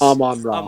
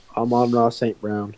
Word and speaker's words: Amon-Ra St. Brown: yes, Amon-Ra. Amon-Ra. Amon-Ra is 2 words. It's Amon and then Ra, and then his last name is Saint Brown. Amon-Ra St. Brown.